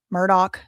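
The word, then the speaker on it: Murdaugh: And I watched the whole entire two serieses of the Murdoch Murdoch that's how you say it.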